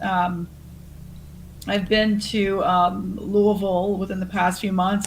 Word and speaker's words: Louisville: forward to that um I've been to um Louisville within the past few months and going back